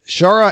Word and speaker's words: Shaara: I'm not really sure how that's pronounced. I think it's Shara. Shara. It's Shara. Shara, okay. Shaara.